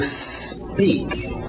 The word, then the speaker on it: speak: To speak. To speak. Cuidado com essa pronúncia. A tendência desse S antes do P, quem fala português, é querer colocar uma vogal de apoio, dizer to speak, porque a nossa letra